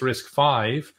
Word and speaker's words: RISC-V: the fifth incarnation and notice it's risk five even though it's spelled with a v uh it's a roman numeral risk one and risk